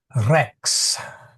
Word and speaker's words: Rex: what's a good uh Rex, which means king. So if you say Christos Rex Christ the King, you want to roll that R to a little bit. Not too much, just a little.